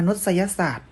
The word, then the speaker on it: มนุษยศาสตร์: รัฐ ประวัติศาสตร์ อ่าน ว่า ประวัติศาสตร์ มนุษยศาสตร์ อ่าน ว่า มนุษยศาสตร์ ที่ นี่ นัก เรียน มา ดูลักษณะ สุด ท้าย